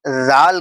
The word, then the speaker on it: ذال: مخرج ادا نہیں ہوا۔ تو اس کو ہم زال کر کے پڑھیں گے، زال۔ آپ میری آواز کو سن رہے ہیں، زال، زال، زال۔ تھوڑی سی